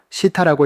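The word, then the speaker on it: 下: 그리고 시타노에서 아레하라는 한자는 훈독으로 시타라고 읽습니다.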